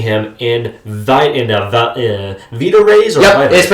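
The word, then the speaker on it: Vita-Rays: serum and dousing him in vit in a vita rays or vita it's pronounced vita rays.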